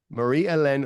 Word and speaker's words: Marie Helene: that came out on February 6 right Mary Marie elen I'm gonna call her this entire interview because I cannot say her name properly Marie elen or p is our guest and PJ